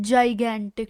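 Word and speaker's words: gigantic: हाउ डू you pronounce this word? जगेंटिक। इट्स जगेंटिक।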